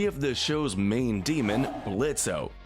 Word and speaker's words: Blitzo: Up next, we have the show's main demon, Blitzo. The O is silent.